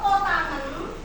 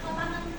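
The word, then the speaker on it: kotangen: Kalau kotangan ini tulisannya cok, tapi bacanya kotangan ya.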